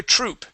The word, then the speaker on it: troop: got another true yeah that would be troop she's got another troop make sure to pronounce that P troop good all right